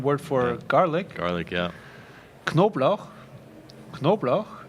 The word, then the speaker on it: Knoblauch: Knoblauch, and the Americans pronounce it Nablak. Because just the CH becomes a K immediately.